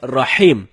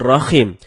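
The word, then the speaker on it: الرحيم: Bacaan yang benarnya insya Allah dengan huruf H. H dalam tenggorokan. Jadinya Rahim, bukan Rahim.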